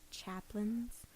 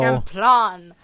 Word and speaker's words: Champlain: Lake Chaplin's. Is that not Nowhere Champlain? in Chaplin. there did I hear a food item. Champlain. Lake Champlain? Yes. Okay, so Champlain.